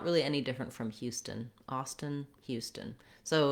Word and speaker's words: Austin: Here we have the letters AU saying the ah vowel. That vowel and that first syllable is stressed. So again, ah is going to be long and stun is our same short combination that we had in Houston. So Houston, Austin.